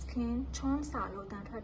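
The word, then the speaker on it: SKIN1004: In Korean, it's pronounced "Skin Cheon-sa." In English, it's not pronounced "Skin 1004," it's pronounced as "Skin 1004 (one thousand and four)."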